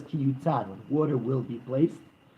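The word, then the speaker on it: כִּי יֻתַּן: water will be placed, but it spells it without a vav, but rather yud taf nun, kiyitain, when he will place. So it's spelled as when he will place, but it's read as when it will be placed.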